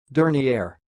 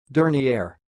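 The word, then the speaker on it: dernière: pronounce this word the pronunciation of this word is sounds like dirty air dirty air and I will repeat again but slowly dirty air during the air that's all thanks for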